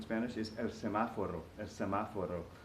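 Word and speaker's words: semáforo: is El semaforo as semaforo this word is kind of a little bit clumsy because it's got that accent on the second syllable of semaforo the rhythms kind of funky so most people just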